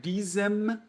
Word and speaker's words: diesem: Por isso, gente, que é muito importante vocês pronunciarem bem pronunciado o N de nariz. Então, é diesen, né, com a língua lá no céu da boca. E aqui o M, ele você fecha a boca. Né? Diesem, diesen. É diferente a pronúncia, tá?